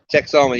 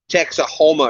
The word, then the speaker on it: Texoma: Texoma, yes, thank you. I always want to add extra syllables in that, Kevin. Texahoma or something.